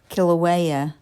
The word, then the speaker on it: Kilauea: Kilauea.